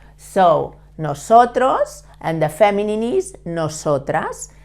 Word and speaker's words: nosotros: No, like when you say no, so, tros, okay? The S in Spanish is never vibrating, never. It's soft, nosotros.